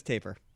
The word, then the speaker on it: tapir: Wikipedia says taper, so we're going with taper.